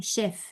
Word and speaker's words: chef: No existe, de nuevo insisto, no existe el sonido che. En realidad no existe con ninguna vocal. Cha, che, chi, cho, chu, no. Los fonemas van a ser ya, she, shi, yo, shu.